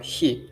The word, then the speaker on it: 火: Today's kanji, hi. As you can tell, hi, that's kunyomi.